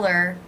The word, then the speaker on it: her: I'll tell her, I didn't pronounce the H in her. I'll tell her we're leaving. I reduced the word her by leaving out the H.